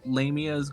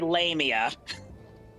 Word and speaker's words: lamia: although if you think about it would um lamear go underneath the classification of the want T brace you did not just say lamia lamia lamia all I'm going to say is